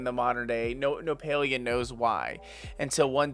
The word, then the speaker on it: Palia: it is attached to the wiki palia is pronounced paleo is derived from the Greek for old referring